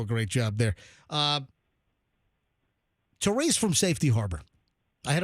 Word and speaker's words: Theres: My It's spelled T H E Res.